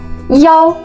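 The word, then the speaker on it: 幺: Un petit détail, pour le numéro de téléphone, le 1, on prononce pas I, on prononce souvent Yao.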